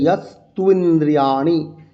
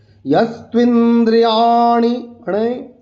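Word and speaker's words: যস্ত্বিন্দ্রিয়াণি: এখানে ইয়াস্তু ইন্দ্রিয়াণি, ইয়াস, এই যে জাস দন্তস আছে, দাঁতে লাগিয়ে উচ্চারণ করবো, ইয়াস্তুইন্দ্রিয়াণি, এই দুটো ন আমাদের, একটা হচ্ছে মূর্ধা, আমাদের যে মূর্ধা, মুখে মণ্ডলের ঠিক উপরিভাগের মধ্যাংশের নাম মূর্ধা, এই মূর্ধাকে স্পর্শ করতে হবে।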